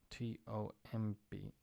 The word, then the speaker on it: tomb: T-O-M-B. Well, a tomb is tumba, and a tombstone, lápida, or piedra sepulcral. I'm not sure which one. Lápida, piedra sepulcral, tombstone. The B is silent.